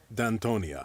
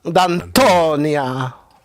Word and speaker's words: Danton: you what it said it said it sounded like this dant that's how he said it I'm trying to say it like he says it what has what